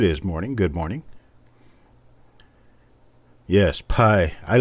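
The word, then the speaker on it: πι: Yeah, it's also Pi Day, 314. That's right. Or if you want to call it in Greek, it would be P Day because the letter is pronounced P, not Pi.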